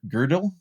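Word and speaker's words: Gödel: where he argues that you pronounce it girdle girdle yeah so he argues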